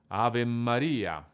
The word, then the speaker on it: Ave Maria: The correct pronunciation of these words is Ave Maria.